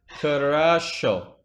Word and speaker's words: хорошо: Wait, how do you pronounce the X? Хорошо.